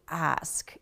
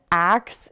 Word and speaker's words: ask: as the verb to ask. So ask is to ask a question, axe is the tool.